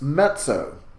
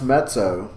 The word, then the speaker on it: mezzo: you go to pronounce met so please make sure you're getting a bit of a T sound in there met so-and-so met so means medium and so